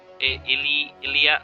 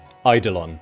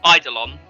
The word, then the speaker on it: Eidolon: I'm going to instead cast at 3rd level blindness, deafness, on the Ilia. I'm pronouncing it wrong. This thing. Eidolon. Eidolon.